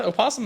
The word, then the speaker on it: opossum: And fun fact, opossum is spelled with a weird O at the beginning. That's silent. Yes. Right? Yes. Yeah. But I don't think you said O. No, you don't. It's silent.